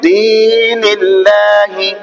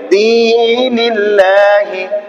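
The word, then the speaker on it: دين الله: ঠিক আছে, উচ্চারণ কি হবে? দীনিল্লাহি। কি হবে? দীনিল্লাহি। দ্বির মধ্যে কি হবে? ইয়া মাদ্দা, ইয়া সাকিন দাইনে জের, ইয়া মাদ্দা, ইয়া মাদ্দাকে এক আলিফ টেনে পড়তে হবে।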